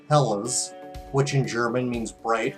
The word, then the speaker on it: Helles: oh well depends on how you want to pronounce it this is hells bells fellas lager but technically it's pronounced Hellas which in German means bright or clear the